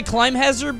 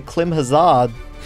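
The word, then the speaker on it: Climhazzard: I say Climb Hazard, but I feel like I'm always going to get, like, made fun of for that. It's spelled Klim Hazard, so I never know.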